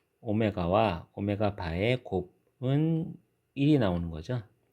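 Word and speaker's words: ω: 자, 요거는 w가 아니라 오메가라고 읽습니다. 오메가.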